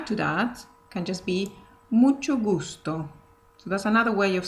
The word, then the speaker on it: mucho gusto: So even though it's two words, you can say it like this. Mucho gusto. So it sounds more connected one to the other.